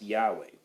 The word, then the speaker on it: Yahweh: four letters yod wah that's typically pronounced Yahweh um that is we